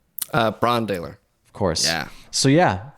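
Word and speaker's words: Brann Dailor: And the drummer is am I pronouncing it right? Brandaler? Brandaler.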